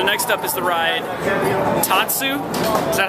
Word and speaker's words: Tatsu: So next up is the ride Tatsu. Is that how you say it? Yeah. Ladies and gentlemen, George Rotana and Kat Racinos. Hi. There are dates for today. Anyway, so this ride is called Tatsu, and it's pretty sweet because apparently you lay